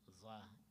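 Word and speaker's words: ظاء: I think like if we could, the lips will become round a little bit when we are pronouncing za, and as compared to zal, that is flat.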